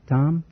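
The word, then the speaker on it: Thom: How do you pronounce Tom? Tom. The H is silent, eh? That's right. Like in herring.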